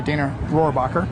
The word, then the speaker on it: Dana Rohrabacher: with Debbie Cook, who's running for the California 46th seat, House of Representatives, held currently by Dana Rohrabacher. Am I pronouncing that right?